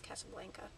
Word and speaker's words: Casablanca: My favorite movies include Casablanca, or Casablanca, if you know, I've heard it pronounced both ways, but in the movie it's Casablanca.